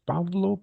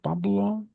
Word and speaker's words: Pablo: Uh, what's the real pronunciation for your name, please? Pablo. Pablo.